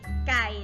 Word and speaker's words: ไก่: ต้อง ประกาศ นะ ค่ะ อ่าน ว่า ไข่ ไม่ ถูก นะ คะ พอ อ่าน ว่า ใกล้ ไม่ ธ แต่ ถ้า ก็ ที่ ถูก คือ ไก่ นะ คะ เติม ไม้ เอก นะ คะ เด็ก ๆ จะ ไป